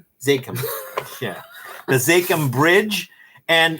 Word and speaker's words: Zakim: This is the how do you say the Hakim? Zakim.